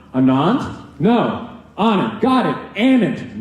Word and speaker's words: Anand: my name the exact same way Anandi Malala Langham my hand goes up before